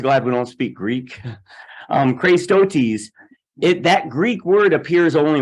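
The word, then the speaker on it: χρηστότης: It's pronounced Christotes. Aren't you glad we don't speak Greek? Christotes.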